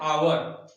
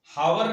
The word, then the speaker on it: hour: HOUR, H से start है, लेकिन इसका जब हम प्रोनाउंसिएशन, इसका उच्चारण करते हैं तो बोलते हैं आवर, हावर नहीं बोलते हैं, आवर बोलते हैं। H साइलेंट हो जाता है, तो आवर बोलते हैं